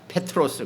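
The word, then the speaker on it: Πέτρος: 그걸 이제 헬라어 발음으로 하니까 페트로스, 그래서 베드로라고 발음을 하는 거지, 두 개 같은 뜻입니다.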